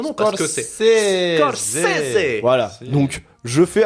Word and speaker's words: Scorsese: Parce que en même temps, vous savez pas écrire Martin Scorsese, je l'ai retrouvé sur je sais pas j'ai